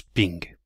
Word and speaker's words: PNG: format des images PNG mais comme dirait Bernard ça se prononce ping on va prendre un